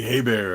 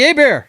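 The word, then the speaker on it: Hebert: Bobby Hayabbear. I remember that guy. Yeah. Bobby Abear. Yeah. Yeah. And it's spelled the same way. It's just he's from Louisiana, so we we pronounce it different.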